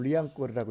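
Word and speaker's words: Liancourt: 지금도 불어로 리앙꼬르라고 해요.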